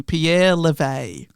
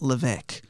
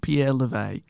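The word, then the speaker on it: Pierre Levegh: of the elder state statesman of french motorizing pierre levay also i've heard it pronounced levesque but i will say pierre levay so observers were anticipating a tight contest between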